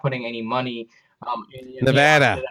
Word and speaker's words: Nevada: And so I think they're really not putting any money in Nevada. You got to say it right, brother. Nevada. I guess I got to get to Nevada before I actually do it.